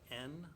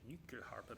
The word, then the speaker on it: Nyckelharpa: It's spelled Nyckelharpa. And it's a weird word, and I sometimes I say it with a weird accent, Nyckelharpa, because this instrument comes from Sweden, And the word nyckel,